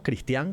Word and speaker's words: Cristián: Vos sos Cristian con tilde en la A, acentuada está esa última sílaba, ¿verdad?